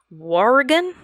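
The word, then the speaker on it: Wauregan: one witness had been walking in his neighborhood in warrigan oh boy spell that w-a-u-r-e-g-a-n while regan w-a-u-r-g-a-n r-e-g-a-n warrigan war where yeah it's like if if wario took over the state of oregon and it was wow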